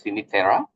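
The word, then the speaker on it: Cinque Terre: Pronounced as Sinitera.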